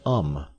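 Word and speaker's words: homme: a piece of bark he learned from darno that it was pronounced um and in the same way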